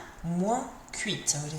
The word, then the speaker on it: moins: Remember, it finishes in your nose, moins. It sounds a bit like me, doesn't it? It sounds like moi, but it's more nasal at the end, moins.